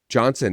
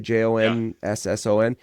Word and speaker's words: Jonsson: realized it was David Johnson. That's how you pronounce that, right? Jonsson.